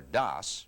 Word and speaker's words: DOS: Before you boot up, I think you should know that a disk operating system, or DOS, pronounced like TOS, is like an office manager who